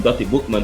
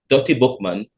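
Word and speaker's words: Dutty Boukman: But it started from Dottie Bookman, who was a slave who came to Jamaica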